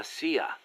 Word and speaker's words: CIA: Around here they say La CIA instead of CIA, huh? Nothing strange about it. That's how it's pronounced when you read it in Spanish.